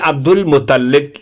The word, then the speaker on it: عبد المطلب: شیبہ ابن ہاشم یا شیبت الحمد۔ ان کو عبد المطلب، درست تلفظ یعنی عبد المطلب اس لیے کہا جاتا ہے کیونکہ ان کو